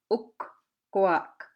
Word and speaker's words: ukkoak: You gotta stress your two K's there. Okay, you gotta say ukkoak, ukkoak. That's the door.